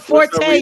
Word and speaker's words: Forte: What's up, Forte, Rita? you gotta put the Forte, Tay on there. excuse Forte. me. Excuse me. I use the French pronunciation, so it's Fort.